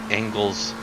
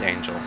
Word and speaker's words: Angel: feeling the pain especially compared to angles what Ang ankles uh 16-minute old tires it's Angel oh gosh been saying it wrong the whole time so sorry my friend